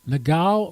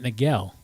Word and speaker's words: Nagel: My pronunciation of the last name is wrong. Oh, Nagel. Nagal or Nagel? She pronounced it Nagel.